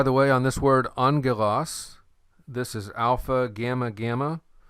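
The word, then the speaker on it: ἄγγελος: smooth good by the way on this word angelos this is alpha gamma gamma when you have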